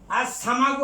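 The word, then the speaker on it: السمك: আর সামাকু হলো মাছ, আমরা যে মাছ খাই সামাকু, এই সিনটা হলো হরফ শামসিয়া, কাজেই লামের উচ্চারণ হবে না।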